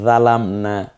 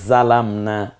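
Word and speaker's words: ظلمنا: যদি বলি রব্বানা জালামনা, এটা কোনটা দিয়ে বলতে পারেন? জিম দিয়ে, জালামনা। আর যদি বলি রব্বানা যালামনা, কোন হরফটা দিয়ে? জ দিয়ে।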